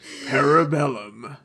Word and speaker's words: Parabellum: You know, you have to say it like Ian McShane. You have to say, Parabellum.